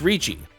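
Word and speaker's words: Riichi: reach option worked while this is occasionally mistranslated to reach as it was referred to in the version I had a more accurate pronunciation is Richie Richie is one of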